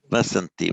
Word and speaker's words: Vasanti: Vasanti, right. I got the slight impression the first time around you pronounced it like a Z sound.